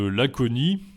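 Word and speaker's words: aconit: Et il y a aussi l'exemple de l'aconie, dont on pensait qu'elle aidait à guérir les maux. Ça s'écrit A-C-O-N-I-T, il y a un T à la fin.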